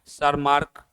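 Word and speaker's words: Tschermak: Germany और एक थे सर मार्क ये ऑस्ट्रिया के यहां टी है सर मार्क टी साइलेंट रहता ऑस्ट्रिया के तो री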